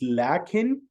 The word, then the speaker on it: لَكِنْ: We say lakin or lakinna as if we have an alif here, lakin, see, lakin, but actually we pronounce the alif, but we don't write it.